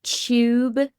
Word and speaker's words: Tube: The Tube, like it's CH. The Tube. Yes, like like Tuesday or tuna.